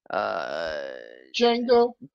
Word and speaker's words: Django: Could be Jason Uso, could be Jack Uso, Django. That's spelled with a D. Yeah. The D is silent.